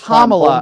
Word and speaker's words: Kamala: that Kamala was offering okay it's Kamala are you that stupid you can't pronounce her name right huh well problem problem